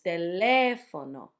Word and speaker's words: teléfono: So it's teléfono. Again, if you see the stressed, you just have to try to pronounce them as close to Spanish as you can.